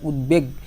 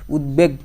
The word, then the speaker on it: উদ্বেগ: যেমন এখানে উদ্বেগ, যখন তুমি এটা উচ্চারণ করো তখন কিন্তু এই ব যে আছে বফলা, সেই উচ্চারণটাও কিন্তু তোমার বহাল থাকে, বটাও কিন্তু তোমার উচ্চারণ করতে হয়। উদ্বেগ, দেখো বও কিন্তু উচ্চারণ